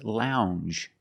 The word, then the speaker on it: lounge: And this word is lounge. Lounge. It makes the regular N plus the J. Lounge. It follows the same pattern as orange.